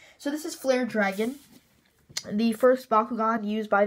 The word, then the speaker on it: Dragaon: So I will be saying dragon. So just anyone in the comment section, if for some reason you just think that it should be Dragoan and it should be pronounced that way, well, sorry, this is Flare Dragon.